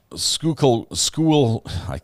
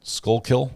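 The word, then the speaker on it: Schuylkill: the gallery let's see uh sko school I said it wrong skull kill skull Kill Road was on the scanner last night at 1:00 a.m.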